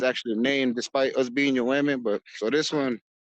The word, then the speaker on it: Yoeme: So Oh, that's so in our native is that the language, more proper Yoeme. way to say it then? That would be the proper way to say? Like, yeah. Yoeme.